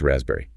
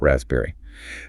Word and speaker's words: raspberry: Well, that S often sounds more like a Z and the P, completely silent. No P. Nope, it's raspberry, not raspberry.